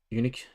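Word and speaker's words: Uniacke: for the tigers and we have luke davies eunuch that's how you say it for north melbourne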